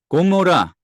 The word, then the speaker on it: 고모라: 그리고 고모라, 고모라 이제 그건데 요게 그러니까 히브리어를 보면은 요게 이제 아인인데 요게 원래 목소리에서 그러니까 목구멍에서 나는 소리예요.